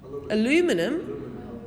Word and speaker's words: aluminium: to make it yeah aluminium i don't even know if i said that right aluminium aluminum we're not in america now aluminium whoever knows it's